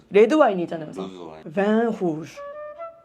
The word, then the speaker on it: vin rouge: 반 후즈.